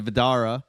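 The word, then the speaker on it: Vdara: Stayed at the Vidara, it's called. It's connected to the Bellagio. You got to say it like that.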